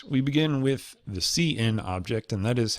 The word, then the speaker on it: cin: our programs all right we begin with the CN object and that is how I pronounce it it's how I've heard it pronounced